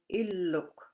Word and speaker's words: illuk: The double L sound. It's important to watch for single and double consonants to pronounce them correctly.